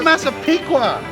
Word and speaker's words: Massapequa: Because No, Massapequa.